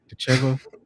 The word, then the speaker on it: Decheva: Is it Dechev? How do you say her last name? Decheva.